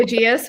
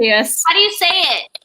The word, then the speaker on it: aegis: my head to like i call it the aegis which is absolutely not how you foreign aegis yeah it feels like there's like another syllable because in percy jackson